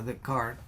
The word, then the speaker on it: Descartes: habilidades cognitivas recordemos que fue de kart se escribe descartes se pronuncia de kart él dijo pienso luego